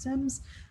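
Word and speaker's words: SIEM: called sims that are spelled s-i-e-m-s but pronounced sims and so those are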